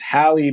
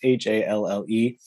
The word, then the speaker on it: Halle: Also, I thought her name was Hallie Butler because it's Halle.